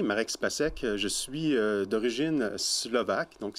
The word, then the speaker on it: Marek Spacek: de m'accueillir ici mon nom vous l'avez bien prononcé marex pas sec je suis d'origine slovaque donc si ça peut